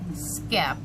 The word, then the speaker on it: skep: a little history about the b scap it's pronounced b skep and it's spelled s k e p skip